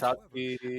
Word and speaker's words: Tatsuki: Tatsuki Oh, or okay. Fubutsuki or Because Fuyutsuki Tatsuki or has any that of same those. thing where it's TATSU, Mhm. Oh, KI, okay. but you don't pronounce the U.